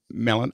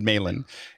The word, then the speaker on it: Malan: be fun to have David melan i i i m men I I've been saying it wrong all week Milan I want to call it Milan it's men so David melen is uh uh is uh